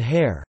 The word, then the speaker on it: haïr: French also uses the diaresis on the second of two adjacent vowels to indicate that both are pronounced separately, as in Noël, Christmas, and hair, to hate.